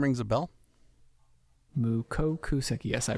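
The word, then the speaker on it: mukokuseki: Mukoku Seki. Yes, I pronounced that right.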